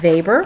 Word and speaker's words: Weber: it talks about Max Weber and that W is pronounced as a V and he's a very